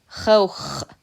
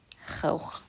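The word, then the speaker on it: خوخ: Chouch means peach. Another vocab word. In some dialects, chouch is how they pronounce it. But the Fusha, the modern standard Arabic pronunciation, chouch, making the O sound.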